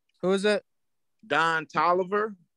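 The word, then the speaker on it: Don Toliver: Don Tolliver. The rapper. Am I saying it wrong? No, that's his name.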